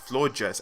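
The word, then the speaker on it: Florges: switch to vloggers and i think it's pronounced floor jets as in gorgeous you know floor gas floor just gorgeous you know but i'm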